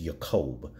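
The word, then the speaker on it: יַעֲקֹב: the Hebrew with his name it's technically correctly pronounced yaqoub because in the Hebrew there is no just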